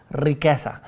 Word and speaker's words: riqueza: I was going to say the richness, la riqueza. Remember the roll your R's, riqueza.